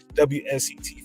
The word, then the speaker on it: WSET: Prior to her, we were calling the W set. She said, no, the proper pronunciation is WSET.